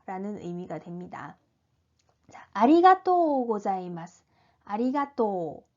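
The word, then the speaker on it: ありがとう: 의미가 됩니다 아리가또 고자이마스 아리가또 또 가 길죠 또 까 장 음으로 발음이 됩니다 다음은 숨이 마 생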